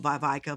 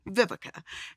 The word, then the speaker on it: Vivica: name growing up um a lot of people couldn't pronounce vivica so i was called vaivaika vivisha i was called everything but vivica and so my middle